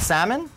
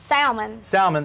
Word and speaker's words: salmon: Salmon? Salmon, that's There's right. There's an L in it, so there is an L. Pronounced it. I agree with you. You know? It's a waste of a good L.